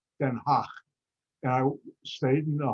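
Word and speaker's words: Den Haag: called the hague that's the american way the dutch way for that name is denha and i stayed in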